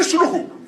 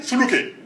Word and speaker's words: Suluku: That was his name, Ali Suluku. But they mispronounced it, they put Eli Suluke. And you ask them what Suluke means, they say they don't know. But I told them the name is Suluku.